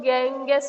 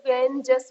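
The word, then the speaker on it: Ganges: गंगेटिका प्लट मेस्टा गंगेटिका इसे कुछ लोग गैंगस भी बोलते हैं कुछ को गेंजेस भी बोलते हैं गजेट का तो वो डिपेंड करता है कौन प्रोनाउंस कर रहा है है ना प्लेटिन इसका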